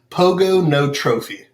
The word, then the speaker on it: Pogonotrophy: close so it is pogonotrophy and the easiest way to nail it every time is pogo no trophy pogo it's kind of like a hippopotamus it's hip hop a thomas that's how he